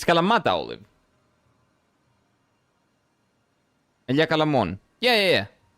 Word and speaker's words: Kalamata: How would you say it correctly? Calamata. Kala is the correct name. Ta. Not da da da. Like you would say tarnished.